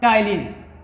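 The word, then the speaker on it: ptyalin: जो टाइलिन है इसमें पी होता है, पी साइलेंट होता है। हाँ, पी is silent generally before T, before N, before yes. जैसे एग्जांपल में क्या है, अगर जो टी से पहले पी है तो जनरली साइलेंट होता है। हाँ, जैसे यहाँ पर पी लिखा है तो इसको हमने क्या पढ़ा, टाइलिन।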